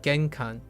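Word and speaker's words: 玄関: so um uh genan so it's pronounced genkan and the characters.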